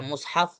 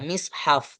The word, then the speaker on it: مصحف: Boleh dibaca dhammul mim, dibaca mushaf boleh. Atau kasrul mim, atau mim itu kasroh, dibaca mishaf boleh. Boleh mushaf, boleh mishaf, dan juga boleh mashaf. Nah, ada 3 cara baca. Mushaf, mishaf, dan mashaf. Tapi yang riwayat yang valid, kata Abu Ja'far An-Nahas, mengatakan bahwasanya kebanyakan para ulama itu membaca 2 bacaan, mushaf dan mishaf.